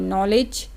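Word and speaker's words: knowledge: इसको लर्न कर लें कि एन के जस्ट पहले के आ जाए ना तो उसको नहीं बोला जाता, तो के साइलेंट हो जाता है।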